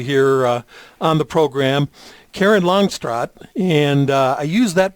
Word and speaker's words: Longstreet: to have you here on the program karen longstroth and i use that pronunciation because her family and her husband's family